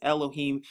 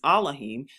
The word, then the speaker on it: Elohim: Verse 4, it says, sing unto what you may call God, or in the Hebrew, that's Elohim. Another way to pronounce that is Elohim.